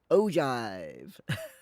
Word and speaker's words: ogive: It has the G from giraffe.